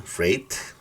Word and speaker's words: freight: light tight frighten fright cuando hay otras vocal antes no Freight es pronuncia como e e Freight and weight Okay cuando hay una